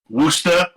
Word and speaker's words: Worcester: we played uh stormbringer metal festival in uh Worcester in Massachusetts yeah that's how they say it